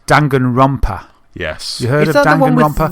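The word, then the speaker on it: Danganronpa: and want to say I always want to pronounce it as Dragon Rapper, but it's Dangan Rumpa.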